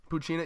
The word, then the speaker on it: Poochyena: chainsaw puppy you said it's how do you pronounce that just what I'm not proud Xena Poochyena yeah yeah yeah the Cucina machine is basically